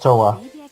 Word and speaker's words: Towa: It's pronounced Towa.